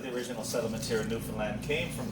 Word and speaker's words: Newfoundland: And it is pronounced Newfoundland, not Newfoundland or Newfoundland.